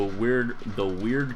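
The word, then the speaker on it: wyrd: I'm gonna try to heal the Plague Doctor with the weird reconstruction. I think it's pronounced weird, right?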